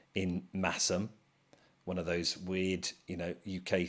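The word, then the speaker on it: Masham: You've got 50% blue-faced Leicester, 25% Massam. Remember, you don't pronounce the H in Massam, one of those weird, UK things.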